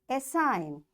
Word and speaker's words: assign: Because the rule is when you find N after G, you will not say this G and directly you pronounce the sound N.